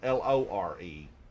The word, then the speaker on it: lore: Lure is like you put on the end of a hook for a fish. Lower. L O R E. But word of the day, lore.